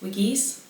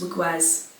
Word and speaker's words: Wiggies: Um, I now know it is Wikis. Wiggies. Wiggies. Yes. Wiggies. Um cuz I thought it was wigwaz. It's not wugw. It's wiggies.